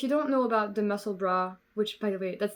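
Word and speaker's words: Musselburgh: about this if you don't know about the muscle bra which by the way that's the pronunciation it's my pet peeve I'm so sorry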